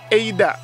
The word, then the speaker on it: Eida: berjudul Eida, atau tulisannya ada ya, walaupun tulisannya ada, tapi dibacanya Eida gitu ya. Jadi teman-teman gak usah kaget, loh kok ini yang benar ada atau Eida? Eida. Tapi tulisannya ada, ADA.